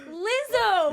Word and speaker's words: Lizzo: Lizzo.